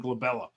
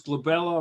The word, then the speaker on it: glabella: That's always on the test because glabella rhymes with my daughter's name, Isabella.